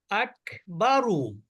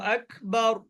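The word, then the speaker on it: أكبر: cafe মনে হয় সম্ভবত আকবারু আকবার আকবারু আকবার প্রথমে কিন্তু আবার খ প্রথমে কিন্তু খ এর উচ্চারণ করবেন না প্রথমে কাফেরই উচ্চারণ করবেন কিন্তু বাতাস বের করে এর সময় অটোমেটিক আপনার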